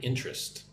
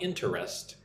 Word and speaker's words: interest: Look how I say the word interest, right? Not three syllables, not interest. Interest. Two syllables. She has a strong interest in environmental issues.